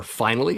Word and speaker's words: Finale: Moving on to track 10, we have finale or finally as it's pronounced in the song. Either basically works here.